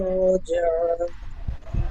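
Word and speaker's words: الرجعى: রুজআ, আর একটু টান দিয়ে বলেন, একালিপ টান হবে। রুজআ। হ্যাঁ, আবার পড়েন আয়াতটি। ইন্না ইলা রাব্বিকার রুজআ।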